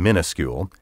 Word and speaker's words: minuscule: minimum minimal and miniature minuscule first came to be mispronounced minuscule and then later misspelled with the prefix mini which means small today the variant pronunciation minuscule is so popular that I can't in good conscience tell you that it's wrong but I can at